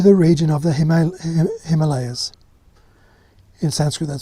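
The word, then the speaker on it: हिमालय: three came to the region of the him Himalayas in Sanskrit that's pronounced Himalaya Hima means snow and alah means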